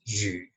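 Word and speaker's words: 魚: Fish in Chinese is yu. In reading, we will say yu. In speaking, we will say yu, yu, yu.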